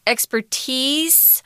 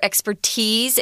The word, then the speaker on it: expertise: Expertise or expertise, it's pronounced both ways, whatever way you like.